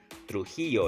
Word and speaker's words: Trujillo: think he lost against trujillo trujillo you know depends how you want to pronounce it trujillo is how you pronounce it in the latin you know uh latin accent okay trujillo he lost